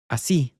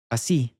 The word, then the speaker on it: así: Así. You can hear the stress coming on the end here. Así.